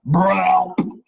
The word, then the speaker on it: BRELP: It's actually pronounced BRELP.